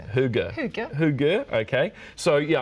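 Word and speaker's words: hygge: I learnt this phonetically it's actually pronounced huger bigger who go oh good okay so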